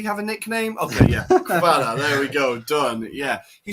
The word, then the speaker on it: Kvara: I had a Georgian student at summer camp, and he said they just say Kvara. So they just call him Kvara.